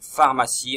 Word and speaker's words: pharmacie: Donc pharmacie, on entend le F au début, donc PH au début. Phare, P-H-A-R, phare, si, pharmacie, avec le C qui fait S.